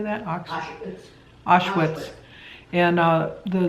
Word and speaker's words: Auschwitz: Auschwitz.